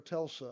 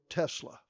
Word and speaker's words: Tesla: to go get a was it a Tesla or a Telsa I never can pronounce it right what is it Tesla Tesla Tesla the only test on